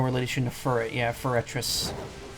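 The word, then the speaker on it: Forretress: to fur it yeah ferretress was that what it sounded like I was saying because I'm not trying to say it that way camera's a little more diet no that's actually the proper pronunciation wow for a trip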